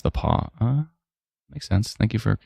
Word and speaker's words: The Pas: Oh, Stella says the pass is actually pronounced the paw.